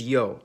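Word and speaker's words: Ё: In almost all of these languages, its name is yo, and it makes the sound yo yon or which if you talk fast enough, basically all sound the same.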